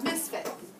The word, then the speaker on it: misfit: That- Put an accent on the first. On the first, so misfit.